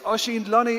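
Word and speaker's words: Oisin Luny: Do not search my name phonetically. My name is Oshin Loney.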